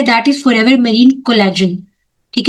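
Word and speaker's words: collagen: That is forever marine कोलजन। ठीक है? जी हां कोलैगिन भी आप इसको बोल सकते हो। जो जैसे मर्जी आप प्रोनाउंस करना चाहे कर सकते हैं।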